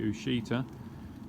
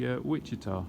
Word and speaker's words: Ouachita: been calling the variety Ouachita, but actually, because it's an American bred variety, it's actually Ouachita, because it's amongst the group that have been named after the Indian tribes.